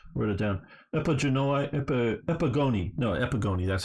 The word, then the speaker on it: Epigoni: least the Diadochi and the Epigenoi, or however you say it, wrote it down, Epigoni, that's how you say it, which is the sons of these guys.